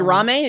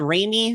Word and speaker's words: RaMe: rainbow meadows to ram and it is pronounced ramy not rainy not ra we had a whole